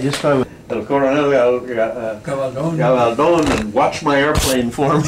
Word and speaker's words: Gabaldon: But she says, Dad, she says, I like the accent on the last syllable, Gabaldon.